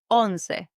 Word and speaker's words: once: That is on. Yes, on. It's written the same as the English word once. O N C E. Like once upon a time, but you pronounce it like on.